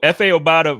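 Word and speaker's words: Efe Obada: Is it F.A. Obata? Yeah. Okay, well, I said it right. Cool. So F.A. Obata versus Bam Johnson for that final spot.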